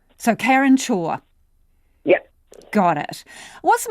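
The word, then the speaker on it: Chhour: surname karen uh so it's pronounced chore like do your chores so karen shaw yep got it what's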